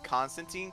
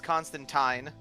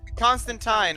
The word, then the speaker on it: Constantine: funny when people say Constantine. Technically speaking, the way you pronounce his name is Constantine. Yeah, I was just gonna ask Really? about It's, that. Really? Constantine rhymes with fine.